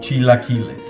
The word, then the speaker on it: chilaquiles: it's called Chila killes if you want to say it right think that you're starting to say cheese take the chees out of that and then la la la la just say la CH LA and then